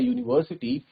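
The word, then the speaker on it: university: जबकि यहाँ पे यू है, स्टार्टिंग में यू है, लेकिन जब बोला जाता है यूनिवर्सिटी तो ये साउंड देता है वाई डबल ओ की, और जो कि एक कॉन्सोनेंट साउंड है, that's why वी यूज a instead of एन।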